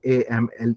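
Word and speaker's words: Amleth: The sources here called call call him Aml uh which is a ML E D. And because Danish uses soft D, that's what we pronounce Aml.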